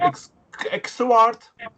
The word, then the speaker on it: Xvart: Xvart. Fart. Yeah, Xvart. Fart, like fart with an X.